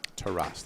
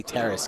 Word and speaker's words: Taras: Taras, that's how you pronounce Taras, it. Yeah. that is the official Taras. Ukrainian way.